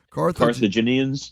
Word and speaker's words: Carthaginian: Carthaginians?